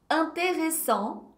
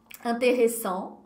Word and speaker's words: intéressant: Intéressant, ok, o en no final vai ficar mais, a boca volta a ficar um pouco mais arredondada. Intéressant.